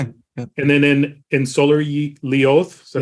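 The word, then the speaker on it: Sólarljóð: And then in Solar Lioth, is that how you say it?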